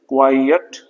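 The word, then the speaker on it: quiet: ये क्या है क्वाइयट जिसको अक्सर लोग गलत बोलते हैं क्वाइयट क्वाइयट इसका प्रोनंसिएशन इस तरह से है क्वाइयट और इसका मीनिंग होता है साइलेंट साइलेंट क्वाइयट साइलेंट और यह एडजेक्टिव है।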